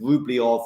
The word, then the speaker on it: Rublev: I shouldn't respond but if we're going to go all in on pronunciations we've got to go all in with rublyov and and so on and